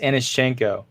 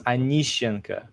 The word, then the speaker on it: Anishchenko: It's pronounced Anishchenko. Oh, I was close. But if you're Russian, it's Anishenko. So it's a little bit different. Anishenka? Anishenka? Anishenko. Well, it's I'm not going to be as good as that. It's kind of... It's like that. So I just like to say for English speakers, Anishchenko, because Okay. that's how it's spelled.